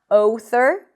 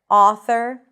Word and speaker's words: author: So not author or low, but author and law. So you want to drop your jaw.